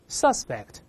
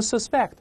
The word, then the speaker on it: suspect: Suspect 嫌疑犯，注意动词读成 suspect，名词读成